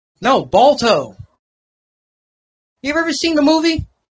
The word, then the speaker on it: Balto: Baldo? No, Balto.